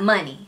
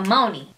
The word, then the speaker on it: Moni: Miss Life of Team Life, you said it's pronounced money. And then I was like, thank you, girl. Because I be struggling. But then Quan, the master editor, you was like, Moni, not money. So Moni. Moni.